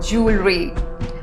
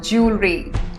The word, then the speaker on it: jewelry: put a double l now how is this pronounced jewelry jewelry my aunt has a rich collection of anti